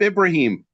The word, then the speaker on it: Ibrahim: And, correct my pronunciation if I got anything wrong there. It's Ibrahim. Ibrahim, okay, great. Nice to meet you.